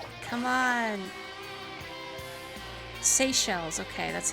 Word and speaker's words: Seychelles: my little planet what's up come on seychelles okay that's how you say it thank you